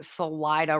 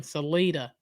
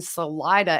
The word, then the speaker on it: Salida: episodes of this case we have been pronouncing salida wrong yeah we've been saying selita well sorry y'all uh